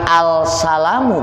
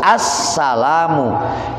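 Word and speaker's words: السلام: lam alif lam Assalamu jangan alsalamu bacanya harus Assalamu disebutnya dalam ilmu tajwid alif lam syamsiah dimasukkan ke Sin Assalamu Nah harus pakai alif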